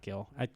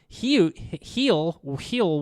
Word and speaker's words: Gil: I think Garrett Cole, Rodon, and Gil, not Gil, Heel will. He'll come to heel. Yeah, I was trying to say he will, but say it like heel, like Gil, he will, and whatever.